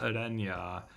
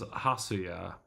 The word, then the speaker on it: Huya: His name, for the record, is not Adena. His name is Huya.